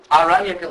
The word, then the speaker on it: Aranyaka: So there's a class of literature called the Aranyaka literature. It's a long A in Sanskrit.